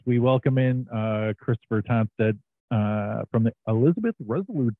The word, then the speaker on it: Tonstad: playing that as we welcome in uh Christopher toned uh from the Elizabeth resolut of New Jersey Chris am I pronouncing your last name correctly you are pronouncing